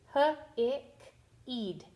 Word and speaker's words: hiked: And we notice the ed is saying t here.